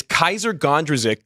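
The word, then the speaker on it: Kysre Gondrezick: Do you want to take a shot at pronouncing Jaylen Brown's girlfriend's name? No. It's Kaiser Gondrezick, Glenn Gondrezik's daughter.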